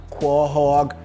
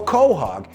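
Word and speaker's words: quahog: a seafood called quog quog pronounced quog or Cog is a hard shell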